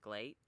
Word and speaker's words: GLEAT: say GLEAT wrong, because it's supposed to be pronounced great, but you replace the R with the L, so it's like GLEAT, but I hate how that sounds.